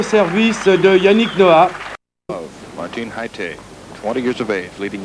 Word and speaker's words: Jaite: Haite, through an interpreter yesterday, was trying to explain the correct pronunciation of his name. In Spanish, it's Haite. But some of the Americans were having a difficult time pronouncing it that way. Finally, he said, "You can